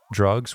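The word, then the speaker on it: Drukqs: Last time I listened to this Ax twin album, Drugs, which is spelled D R U K QS, um, I had to just keep track.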